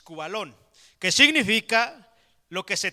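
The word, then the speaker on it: σκύβαλον: viene del griego cubalón así ese K acento en la u b de burro a L o n es cubalón Qué significa lo que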